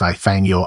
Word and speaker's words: I thank you: I thank you pronounced Ay-thang-yaw and before your very eyes.